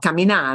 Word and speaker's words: camina: you're going to see it's always second to last syllable eStudio eStudio right again right not Kamina right Kamina well coming out means uh no it doesn't mean anything at all Camina no Camina Camina um